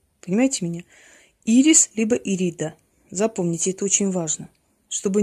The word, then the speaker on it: Ирида: Произносите ее имя правильно. Либо Ирис, если вы не запоминаете Ириду, либо Ирида. Смотрите, чтобы не назвали ее Эридой, потому что Эрида – это богиня раздора.